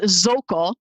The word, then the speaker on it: Szokol: No, my first name is, and my last name is Szokol. The easiest way to remember it is that I'm so cool.